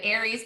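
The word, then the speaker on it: Ares: war aries a-r-e-s aries it looks like ours but it's actually aries the way that it's pronounced um gavin who's my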